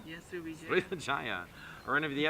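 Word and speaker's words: Sriwijaya: Srivijaya? Yes, Srivijaya.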